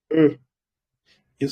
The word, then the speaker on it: une: Eso se pronuncia un. Eso se pronuncia une.